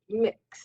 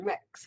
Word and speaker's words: Mx: So, honorifics continue to change, as we can see with MX, pronounced mix or mex. I looked it up. There's different ways that people pronounce it.